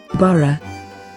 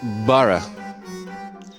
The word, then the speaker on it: borough: And here's how it should be pronounced. Borough. Borough.